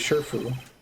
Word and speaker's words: Shifu: So it's supposed to be Shifu. SHI is pronounced she in Japanese, right? It's usually sure if it's localized that way in Chinese.